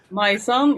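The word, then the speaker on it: Majsan: got returning basist um my son again I'm hoping I'm pronouncing that correctly my son yeah it sounds like my son but it's m a j s a n my son yeah it's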